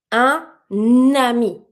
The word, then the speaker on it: un ami: So I'm going to pronounce my un first word the way it's supposed to be said, spelled, and the second one the same. I'm just going to re-pronounce my N over my first sound to connect with my second word.